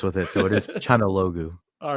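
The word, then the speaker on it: Çalhanoğlu: Okay, Martinez, Turkish dude, Chanaloglu, and Cousins. I'm sorry, I can't do it. I'm sorry. Let the Albanian pronounce the Turkish name because we've got experience with it. So it is Chanaloglu.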